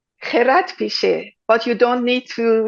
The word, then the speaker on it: Kheradpicheh: Gerard Pichet, but you don't need to learn my last name.